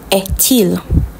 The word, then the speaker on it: est-il: Quelle heure est-il? The T and the IL is pronounced together. Till.